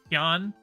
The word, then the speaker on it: Hyun: Your name is one syllable, so it's not Hyan, it's Hyun.